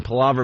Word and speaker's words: palaver: Palaver means chatter or long, endless talk. Very Palaver. good. So, Palaver.